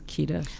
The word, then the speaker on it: Kedar: Is it pronounced Kedar? Cedar Guard. Okay, Cedar but Guard. the company's Kedar.